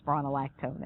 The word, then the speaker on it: spironolactone: Now, this drug is called spironolactone. Students always have a hard time with this one. Spironolactone. Just like it's spelled.